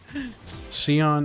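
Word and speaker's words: Xion: Shion is definitely pronounced with the sh.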